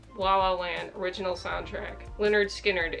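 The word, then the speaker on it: Lynyrd Skynyrd: as daylight ties la la land original soundtrack leonard skynyrd it's pronounced leonard skinner so much dust holy nirvana never mind oasis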